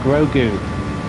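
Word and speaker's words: Grogu: get it right and it is I need pronunciation where is it where is he I can't find him Gru grou is the name of the alien Gru there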